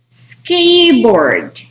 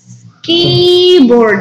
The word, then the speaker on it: skateboard: Siempre, y de hecho la mayoría de veces, cuando ustedes tienen una S al principio, no se pronuncia con E. No. Es el sonido de la S.